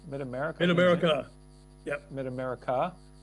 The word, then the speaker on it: Mid America: Is it American or America? Mid America.